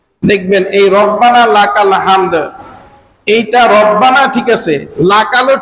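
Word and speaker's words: ربنا لك الحمد: এই হা যদি উচ্চারণ না হয় তাহলে রব্বানা লাকাল হামদ আমাদের ঠিক হবে না।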